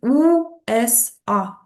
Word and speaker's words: USA: Також ще забула додати стосовно USA, да, кажуть, це те, що таке найчастіше зустрічається, то англійці кажуть USA, а німці кажуть УСа.